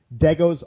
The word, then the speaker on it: Degos: for us on iTunes day goes on three dead goes is spelled like de gos just like Legos with a D on the number three